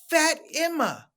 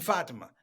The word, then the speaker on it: Fatima: uh my name is fat emma you mean fatima no fat emma could